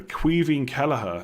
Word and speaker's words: Caoimhín Kelleher: How do you pronounce the Liverpool goalkeeper? Caoimhín Kelleher.